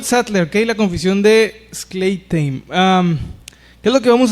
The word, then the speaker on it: Schleitheim: Schleitheim, lo estoy pronunciando así para luego lo van a publicar ahí, pero Schleitheim se escribe S-C-H-L-E-I-T-H-E-I-M.